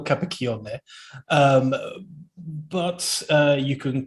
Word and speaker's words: Capacchione: i would i would pronounce my surname for you so it's a cappuccion um but you can